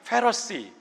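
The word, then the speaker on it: Pharisees: 사두개인, 영어로는 세저시라고 발음합니다. 바리새인, 페러시.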